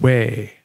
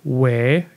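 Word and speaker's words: wē: in old english too the sound spelled like e with a line over it is pronounced as a long a sound this often corresponds to an e in modern english so old english way gives us modern english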